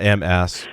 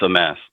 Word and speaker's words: Amass: It's probably not Amass, right? I mean, sometimes I am an ass, but I mean, just ask the other hosts. Good question, because I seem to get many variations on pronunciation. It's Amass.